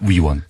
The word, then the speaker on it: 위원: 발음을 정확하게 해주십시오. 의원이 아니고요. 위원입니다. 위원.